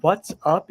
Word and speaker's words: what's up: and because it's informal we often use informal pronunciation so I would usually say what's up what's up what's up you don't hear the T sound it's just w w